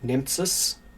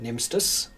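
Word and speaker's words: Nemtsas: my name is uh phonetically you would pronounce it nempsis n-e-m-t-s-a-s but all of my relatives pronounce it nemsters for some reason the origins of it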